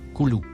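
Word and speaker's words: كلوا: mot en surbrillance jaune se prononce Coulou il signifie couramment manger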